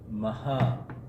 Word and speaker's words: Mahabharat: Now the word Maha, by the way, the pronunciation is Mahabharat.